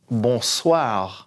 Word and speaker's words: bonsoir: then for good afternoon bonsoir bonsoir in up here s same Oh I together sounds like a lie and then the R in the back slow ball soir through